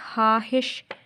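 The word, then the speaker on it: ख़्वाहिश: लेकिन जब हम इसको प्रोनाउंस करेंगे तो बच्चों ये किस तरह होता है? हा हिश। क्या होता है? हा हिश, ठीक है। हा हिश, हा हिश, ठीक है। ये इस तरह प्रोनाउंस होता है, इसकी आवाज़ ये है,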